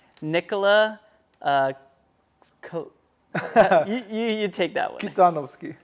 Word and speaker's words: Kitanovski: Kitanovski. Kitanovski. Yeah, that's the most Macedonian pronunciation I can do.